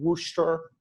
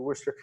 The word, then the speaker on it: Worcester: actually corrected my pronunciation, because it's spelled Worcester. It makes absolutely no sense.